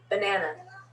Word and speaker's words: banana: and banana banana banana so you notice the schwa in the beginning of banana even though that's an a so here we have a word with three a's that all sound differently banana banana bath bath